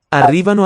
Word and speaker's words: arrivano: The stress, or the most prominent acoustically syllable there, is the second one.